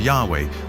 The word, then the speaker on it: Yahweh: which in English would YH wh which we think were probably pronounced something like Yahweh but Yahweh only appears